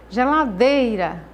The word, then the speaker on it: geladeira: Quando eu falo geladeira, o dei é a sílaba tônica. O restante dessas outras sílabas, que para formar essa palavrinha geladeira, nós pronunciamos com menor força e com menos intensidade.